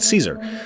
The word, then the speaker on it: Caesar: here everything east of the river belongs to kaiser sorry they would pronounce it caesar um it's legion territory everything west of that